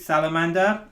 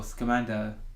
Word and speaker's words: Scamander: Set in the 1920s, it tells the story of Newt Salamander, who is a magical zoologist.